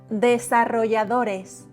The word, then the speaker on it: desarrolladores: The T, try, de, sa, ro, a strong R, ya, remember, ya, you, ya, do, strong, open O, no change, o, res, the last R is soft. Only vowels, e, a, o, e. Desarrolladores.